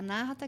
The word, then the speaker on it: Anahata: do coração né então an narata né se pronuncia narata que a palavra em sânscrito que é a